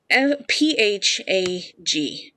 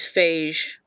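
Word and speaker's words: phago-: a little bit, but PHAG is a Greek prefix for words pronounced phage, which means to eat. I know it is pronounced, like in Greek it is phage. In English we normally say phag, right?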